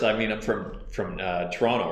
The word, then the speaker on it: Toronto: whereabouts in Canada and he said Toronto he pronounced the last T and I'm like no you're not from Toronto and he's like well